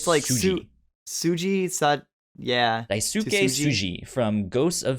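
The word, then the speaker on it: Tsuji: Yeah, I assume it's pronounced Suji. Yeah, no, it's like Suji.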